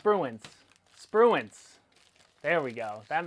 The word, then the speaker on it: Spruance: Definitely pronounced Spruance.